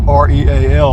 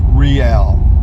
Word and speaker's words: Real: we're getting into the real Count II line it's spelled Rea L like real but it up here it's pronounced rial I'm sure this guy there's a place I'm